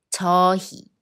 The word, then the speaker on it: 저희: 거의, 거의 예의, 예의 회의, 회의 And when 의 combines with other consonants, not 이응, then 의 should be always be pronounced as 이. 저희, 저희 희망, 희망 문의, 문의 예 is the last pronunciation mistake.